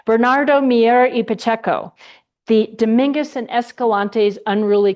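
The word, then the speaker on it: Bernardo Miera: about Bernard H, let me say it right, Bernardo Miero, the Domingus and Escalantes unruly cgrapher.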